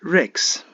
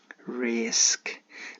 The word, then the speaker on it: risk: or most of us but some of us pronounce the word Rex the car comes first the S goes to